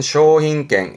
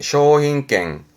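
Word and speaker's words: 商品券: 그리고 상품권 발음은 쇼힌갱, 쇼힌갱.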